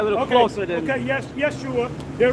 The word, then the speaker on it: Yeshua: Yeshua. They're right. But they're not pronouncing it the right way. Right. So when the church says Jesus, that's not his name.